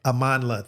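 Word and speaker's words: Amandla: him and and and I don't want to mispronounce. Amanla, thank you.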